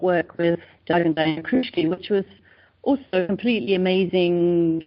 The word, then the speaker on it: Kruschke: Is that how you pronounce her name? Yeah, Kruschke, perfect, yeah.